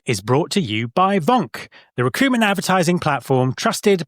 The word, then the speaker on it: VONQ: And Vonk is spelled VONQ.